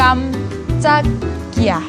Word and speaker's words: 깜짝이야: คำ ว่า ก โ คำ นี้ อ่าน ว่า กำจัก เกีย กำจัก นะ คะ ใน ภาษา เกาหลี ค่ะ แปล ว่า ตก ใจ